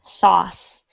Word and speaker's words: sauce: be a challenge is pronouncing the word sauce it is one syllable good so to spoon